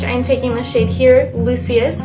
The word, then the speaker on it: Lucius: So on a Scone smudger brush, I'm taking the shade here, Lucius, which I know how to pronounce because it is like Lucius Malfoy from Harry Potter, and I'm just going to apply that to the inner corners of my eyes.